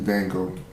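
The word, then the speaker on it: Django: You know, I recently saw the movie Dango, you know, where as they say the D is silent, which reminded me of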